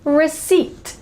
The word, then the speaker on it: receipt: All right, and the next word is receipt, receipt, receipt.